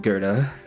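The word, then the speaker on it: Goethe: weird sometimes not as weird as Gerta being pronounced Gerta that one's fun that one's a fun one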